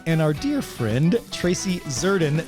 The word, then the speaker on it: Zserdin: our dear friend Tracy zurden the S is silent we are not gonna say it uh Tracy has been